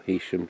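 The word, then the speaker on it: Heysham: of focus then apparently it's Haitian power station or Hesham depending on how you want to pronounce it and look it's miles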